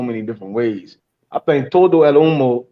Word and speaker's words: todo el humo: I think Todo El Humo sounds better.